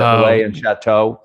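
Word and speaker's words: Relais & Châteaux: I always forget how to pronounce it. Relay and Chateau.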